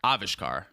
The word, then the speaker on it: Avishkar: it's now called avishkar avishkar the accents on the first syllable yes ah vishar I